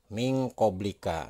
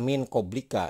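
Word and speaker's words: مِن قَبْلِكَ: Nah, ini tidak dibaca min koblika ya. Ini nun mati ketemu dengan huruf ikhfa di depannya, ini huruf kof, maka itu akan berbunyi eng ya. Nah, ini akan berbunyi eng. Jadi cara membacanya adalah min kobli ya.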